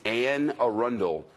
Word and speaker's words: Anne Arundel: The county is Anne Arundel, 2 words, locals say Anne Arundel, and they're confirming active shooter at 888 Bestgate Road in Annapolis.